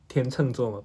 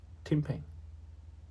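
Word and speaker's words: 天秤座: charming A bit embarrassing Is my constellation pronounced as "Tian Cheng Zuo" Isn't it pronounced as "Tian Ping Zuo" "Tian Cheng" I think both are okay Anyway both work for me No big difference here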